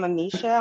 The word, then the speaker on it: Amisha: Is it Amisha? Am I pronouncing it correctly? Yes, I'm Amisha.